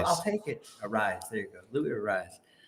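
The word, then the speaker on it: Arraez: do you say his name I'll take it arise there you go Louis arise um damn my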